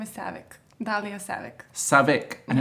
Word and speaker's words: Savic: what's the second name my second name is Saavik ba bo sabbaq sabbaq and it's not savage I always thought the said my name is